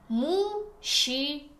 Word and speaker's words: мужчина: And here new pronunciation rule about letter combination zh, ch. Zh and ch together give sound sh. Мужчина.